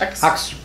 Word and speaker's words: Axe: Wie spricht man das aus? Axe.